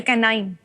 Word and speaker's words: K9: K9 जो शब्द है, ऐसे K और 9 लिखा है, लेकिन K9 को अगर आप प्रोनाउंस करेंगे CANINE होता है। K9 माने कुत्ता। ठीक है सर, ओके, कैनाइन।